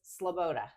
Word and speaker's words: Sloboda: That's Sloboda. Sloboda. I always say Sloboda. Sloboda. Sloboda. Just like it's spelled. Just like that.